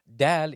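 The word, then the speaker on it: دال: like you're saying dad d d it is pronounced from the tip of the tongue towards the upper incizors Dal is also a light letter it's not D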